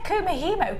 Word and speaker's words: kumihimo: We've said kumihimo, Kim, 3 times now.